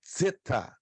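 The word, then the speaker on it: ζῆτα: maiúscula como um Z, mas ela é zeta, ela se pronuncia como zeta. O formato maiúsculo é como fosse uma cobrinha invertida, se pronuncia zeta. Tá aqui, ó, é como fosse um D e um Z, zeta.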